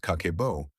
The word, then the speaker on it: Kakeibo: In 1904, Japan's first female journalist, Hani Motoko, created a system called Kakeibo, pronounced Kakebo, which translates to household financial ledger.